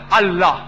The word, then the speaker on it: Allah: God Almighty as Allah they write it as IA but when to pronounce it we have to tell them pronounce it as Allah hope the answer the